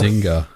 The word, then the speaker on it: Zynga: How do you pronounce their name? Zynga? Zynga.